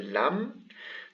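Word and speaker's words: لام: the calf and the lam the calf is written like this and it is pronounced as a regular ka kaf this one here is lam and it's pronounced as an el so it should be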